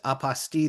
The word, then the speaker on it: apostille: And then there's my personal favorite, Apple steel. Love apple steel. And my favorite is of course aposti the way I say it mainly because it rhymes with unrestricted fees.